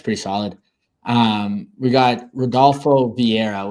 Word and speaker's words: Vieira: We got Rodolfo Vieira, which is definitely not pronounced with the R, but I struggle with those Brazilian names, taking on Andre Petroski.